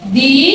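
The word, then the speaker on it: the: যেমন কি দি অ্যাপেল, এটা কি হবে?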